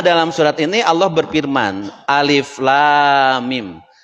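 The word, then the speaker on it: الم: Tetapi ternyata dalam surat Al-Baqarah ini dibacanya tidak alam. Ya, tidak alam. Tetapi dibacanya alif lam mim.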